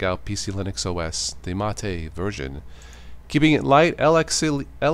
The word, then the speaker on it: MATE: Okay, so number 10 is PC Linux OS Mate, or Mate it's pronounced.